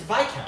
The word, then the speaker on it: viscount: It's Viscount. It's Viscount. Viscount. It Yeah. has an S. It's a word, though. This isn't a made-up word. This is a real word. You can hate the French all you want. You still won't pronounce their consonants.